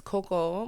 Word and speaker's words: Cocoa: So my name is Coco, but it's spelled Cocoa.